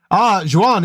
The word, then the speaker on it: Juan: Juan is pronounced like want.